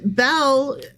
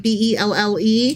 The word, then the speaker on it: Bel: to spell it, and you thought it was like a girl's name, like Belle. Right. Or something like that. Yeah. But it's more like the god Bel, so think L-B-E-L.